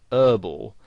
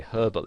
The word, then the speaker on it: herbal: Now in American English, the word herbal has the H silent, so they pronounce it herbal.